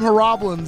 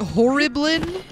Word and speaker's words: Horriblin: it uh yeah because I call them heroblins and everyone's like uh-uh I think horribling this is like horrible oh horribly okay that's